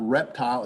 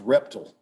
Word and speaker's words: reptile: Or it's not reptile, it's reptile. Reptile? Really?